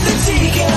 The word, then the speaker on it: Adika: It's coffee talk with the Tika. Nothing rhymes with that but chicken tikka.